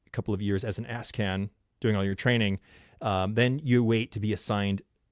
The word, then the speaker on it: ASCAN: It's an ASCAN, but it's pronounced ASCAN.